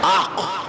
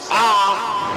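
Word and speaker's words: عاقّ: آقا علیہ السلام نکل جانا ہے کہیں کا، تو آق ہو گیا۔ سمجھ میں آیا کیا ہو گیا؟ یہ آق، عین الف زبر آق، قاف مشدد آق، سمجھ میں آیا کیا ہے وہ؟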